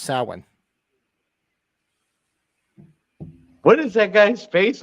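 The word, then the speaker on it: Samhain: the the cardinal sin he pronounces it completely incorrectly absolutely wrong it's sowin and those that have read the the novelization of Halloween one will know that the reason Michael is the way he is is because of that because he pronounced it wrong yeah it's not it's it's Celtic it's it's pronounced Saline what is that guy's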